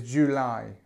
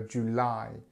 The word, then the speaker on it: July: the stress here the the end of the word is where you put the stress so July July so this is